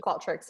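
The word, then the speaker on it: Qualtrics: tricks is it called show that's how you pronounce it called tricks yeah is that the same thing um she's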